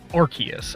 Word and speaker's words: Arceus: Legends Archus. The game, by the way, it is Arc because in that game, you get the Ark phone and you don't pronounce it the Ars phone. So, it is Archus.